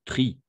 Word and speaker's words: tries: il faut que tu tries tout simplement pris parce que c'est tri on a fait mais le S n'est-ce pas parce que c'est le il faut que tu tries oui c'est la même